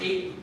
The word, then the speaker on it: eight: Because in Spanish it's How do you pronounce eight. eight? One syllable. I Appa. Of course, because every vowel has a function, right? And this is just to make it long.